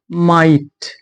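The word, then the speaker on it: might: ऐसे हम पढ़ते हैं माइट, माइट, यहाँ पे भी क्या है, जी साइलेंट है।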